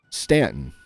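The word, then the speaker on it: Staunton: Stanton.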